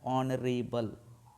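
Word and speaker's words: honourable: देखिए H sound है भले कंसोनेंट साउंड एच कसोनेंट है लेकिन साउंड क्या आ रहा है ऑनरेबल ऑनरेबल आ रहा है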